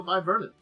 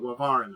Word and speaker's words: Wyvaran: But yeah, that little bit there is the Wyvernan. And I hope I'm saying it correctly. It's one of those wings that's Wyvaran. I try to say it correctly. I tried to do the Wyvern a little bit more, but Wyvaran, I think, is what it's really it. Now I'm sitting down, concentrating on it. That's me mispronouncing it. But okay, yeah.